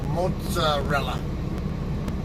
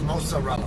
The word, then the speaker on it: mozzarella: always o and then when you have two consonants of the same letter like two Z's or two G's whatever it it has a longer sound it's uh so mozzarella versus mozarella um so that's the